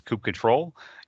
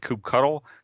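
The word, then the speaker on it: kubectl: it's the coupe ctrl control uh the official pronunciation because you'll hear this is coop control you'll also hear the word coupe cuddle and really the difference is the people who like coop cuddle critic unicorn stickers with that said coop cuddle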